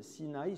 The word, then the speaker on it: Sinaï: des termes c'est-à-dire que Sinaï se prononce de la même manière qu'un autre nom qui est le mot sin a sin a ça veut dire la haine alors intéressant de voir